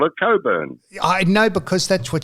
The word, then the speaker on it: Cockburn: So, she calls herself Coburn. The C K is silent as in um as in sex.